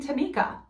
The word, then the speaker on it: Tamika: She pronounces her name Tamika.